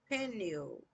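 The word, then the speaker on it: Peniel: Now the sun rose on him as he passed pen pen penal. It's spelled like pen ill.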